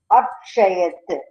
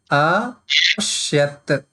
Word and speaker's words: अपश्यत्: Again, अक्षयत्. no. Apashyat. अक्षयत्. अक्षयत्. No. Let me pronounce once. Then you try. Apashyat.